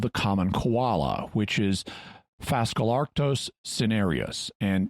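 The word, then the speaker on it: Phascolarctos cinereus: common koala which is fascalarctos cenerius and yes i'm using a basically english pronunciation even though this name is partly based on greek and latin because i don't want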